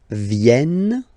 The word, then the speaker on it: viennent: So you've got this double N just after the so it will change a little bit your pronunciation. You will have to pronounce this like eh. Okay? Ils viennent.